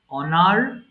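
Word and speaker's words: honour: হেরাস্ট অনার সম্মান করা এটা অনেকে ভুল করে হনার বলে ফেলে এইচ এর উচ্চারণটা হবে না সাইলেন্ট সো এটা হবে অনার সম্মান করা অনার অনার্ড অনার্ড ভুল করে এটা অনারেট বলবেন না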